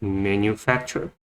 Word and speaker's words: manufacture: So first syllable man, you, the second sound for you, manufacture. So the stress put on the third syllable, manufacture. Facture. So here, the phonogram T says ch sound because had a blending purpose. It's just easier to pronounce.